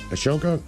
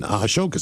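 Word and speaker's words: Ahsoka: How the hell do you pronounce her name? Let me see the name here. Ashoka.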